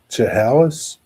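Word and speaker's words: Chehalis: Now I'm watching uh I don't know how to pronounce this. Chalis wish Washington C H E H A L I S.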